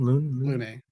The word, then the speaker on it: Lune: And I think that kind of shows already, like, who Luna is, because later, or Lune, how do you pronounce her name? Lune. Sorry, Lune.